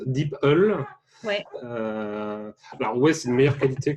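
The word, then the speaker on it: DeepL: wept donc ses apparats a priori ça se prononce d'ipl ouais ouais c'est meilleure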